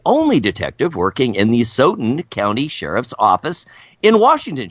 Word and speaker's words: Asotin: Nearly 40 years later, Acetin, is that the right? How do we pronounce acetin? Acetin? It's Asotin.